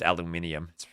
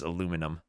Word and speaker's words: aluminum: No, it's not pronounced aluminium. It is aluminum.